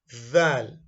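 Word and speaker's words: ذال: of it very well it is not Dal it is it is thicker than D it is thicker than D and you want to get okay let's talk about the forms this is zal in isolation we don't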